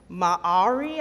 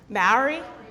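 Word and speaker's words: Māori: Maori? Oh, see, I've said it that way, and then people have told me differently. They said that you pronounce it M-A-H-A-W-R-E-E.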